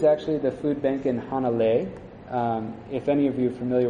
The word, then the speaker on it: Hanalei: Puff the Magic Dragon they mentioned in town called Hana Lee and it's actually hanalei but they made it rhyme with the song the food bank when